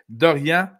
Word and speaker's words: Dorian: que si ce serait Dorian je vais prononcer à la française en Dorian Thomson Robinson donc dan